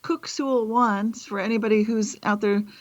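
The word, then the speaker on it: Kuk Sool Won: It's actually pronounced Kuk Sul Wan for anybody who's out there who practices this.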